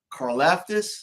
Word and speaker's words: Karlaftis: My number 2, the guy from Purdue, the edge, George Karlaftis.